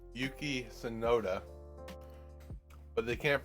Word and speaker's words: Sonoda: So there's one guy called Yuki Sonoda, but they can't pronounce his name right sometimes, so they call him Sonoder.